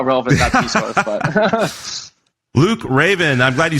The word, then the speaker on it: Reyvn: raven r-e-y-v-n um but it's pronounced like the bird so in case anybody